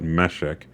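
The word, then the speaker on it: Meshech: by MOS mesek we we call it mesek uh that's how it's spelled in most English Bibles now mesek they are the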